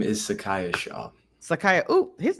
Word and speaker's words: Sacaiah Shaw: before I say it wrong my name is Sakaya sha Sakaya oh his name just it sounds I've